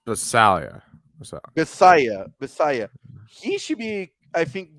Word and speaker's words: Bisaccia: head coach Rick B how do you say Bisaccia? I think it's Basalia. So Bisaya.